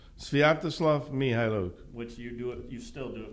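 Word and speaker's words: Sviatoslav Mykhailiuk: Well, they could say Mikhailuk. I don't think so. No, I think the K is silent, and that's what Svi said, and why not go with him?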